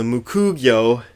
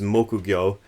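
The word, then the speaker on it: 木魚: People call this a mukugyo here in America, but the proper Japanese pronunciation is mokugyo.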